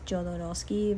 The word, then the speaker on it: Jodorowsky: I think you pronounce his name in English Jodorowsky, but actually in Spanish it's Jodorowsky. So, awakening is not a thing.